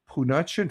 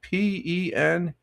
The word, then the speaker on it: penuche: We have National Penuchin Fudge. Do you know what that is, Tina? Penuche. I didn't pronounce that right.